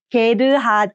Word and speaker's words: 게르하드: But Korean syllables always consist of a minimum of a consonant and a vowel. So in Korean, we add the vowel 게르하드.